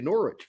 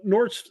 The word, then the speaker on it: Norwich: So apparently, and this is not a surprise to Norwich fans.